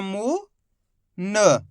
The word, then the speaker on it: मुन: मिलके बन जाएगा मुन अधिकतर लोगों से यहीं पर ही गलती होती है लास्ट वाले अक्षर का उच्चारण पूरा कर देते हैं तो शब्द गलत हो जाता है तो आपको ये गलती नहीं करनी लास्ट वाले अक्षर का उच्चारण आधा करना है इतना सिंपल सा तरीका